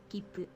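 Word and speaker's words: きっぷ: When you see the small tsu, you don't pronounce it as su, instead you treat it as a very brief pause before pronouncing the next consonant. Kipu. Like kipu.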